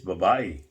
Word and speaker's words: babae: B-A-B-A-E. Girl. Which almost sounds like it's spelled like babe, but with a different with an A, an extra A in it.